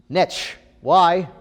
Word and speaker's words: niche: how is that pronounced niche-y rhymes with rich yeah be specific to